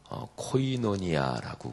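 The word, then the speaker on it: κοινωνία: 그리고 그거를 헬라어로 발음하면 코이노니아라고 그래요.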